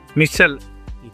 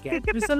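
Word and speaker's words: मूसल: Missile. Musal or musal? Muttal. No, Musal. so beating it.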